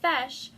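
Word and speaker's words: feis: the irish language so a fesh which is just a regular competition spelled f-e-i-s and then another example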